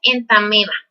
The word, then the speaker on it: Entamoeba: Aunque se escriba entamoeba histolítica, la pronunciación correcta es entameba.